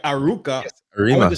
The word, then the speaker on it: Arouca: But you see how it's written here is Aruca. But when we rewrite it for ours, it does spell that way. Wow. So it's the old English or the old Spanish versus the modern evolved way. Yeah. So it evolved through time to adapt to us people living there now. Like, it don't spell that way at all. It's spelled Arouca, Arouca.